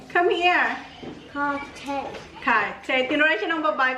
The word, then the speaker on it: Cartier: How you pronounce this? Cartier. Come here. Cartier.